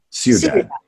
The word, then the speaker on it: Ciudad: Ciudad? Ciudad. Okay, see, I'm going to mispronounce a lot of things, so don't worry about it.